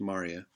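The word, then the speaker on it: maria: full of craters and Marya spell Moorea but pronounced Marya and the singular form re humor is Mari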